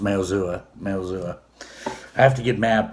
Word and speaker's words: Maozua: It's kind of hard to pronounce, but that's how it's pronounced, Maozua.